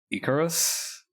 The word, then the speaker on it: Ikariis: gonna call I'm gonna say that this is pronounced Icarus you know like the dude who flew flew